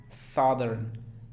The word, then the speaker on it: southern: Cuando van dos vocales juntas, como en este caso O, normalmente se pronuncia la primera, sa, pero esa O no es O, sino O. Southern.